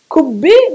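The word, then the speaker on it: كبة: It's called kubbi. Kubbi, that's with a normal Ka. K, Kaf, normal letter Kaf. That's a different letter. That's the same letter but pronounced from the front of the, in the mouth. Ka, ku, kubbi, kubbi, and ku, qubba'a, qubba'a, ku, ku, yeah, ku and ku.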